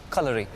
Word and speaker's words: Kalari: Kalari. It's actually pronounced Kalari. Kalari. Like the way you write color.